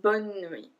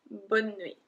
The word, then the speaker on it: bonne nuit: It's bonne nuit. Bonne nuit. We did not pronounce the E in the middle, so bonne nuit.